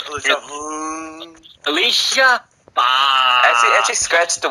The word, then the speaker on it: Alicia: You said it wrong. It's Alicia.